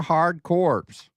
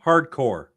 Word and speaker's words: Hard Corps: Did you say corpse? Did I say corors? Contra hardcore. Okay. Sorry. The PS is silent. All right. It's not a corpse.